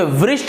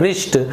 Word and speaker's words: wrist: लिखा हुआ है WRIST, तो इसे वृष्ट नहीं पढ़ेंगे क्योंकि W का उच्चारण वह होता है, तो आप इसे वृष्ट नहीं पढ़ेंगे, इसे हम उच्चारण करते हैं रिष्ट।